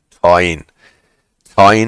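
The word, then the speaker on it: Tyne: the their own soup to cook but those thingies came into existence in 16 eight and we're still around in 87 T rhymes with wine yes T Newcastle upon t t and Weir right it's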